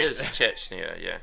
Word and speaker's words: Chechnya: I don't think there's a CH in that one, is there? Trust me, it's pronounced Chechnya.